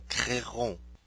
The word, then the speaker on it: créerons: voudrais mentionner est que dans les verbes en IER, UER, OUER et accent aigu ER, au futur simple, nous prononçons seulement les voyelles I, U, OU, et. Le E après ces voyelles n'est pas prononcé.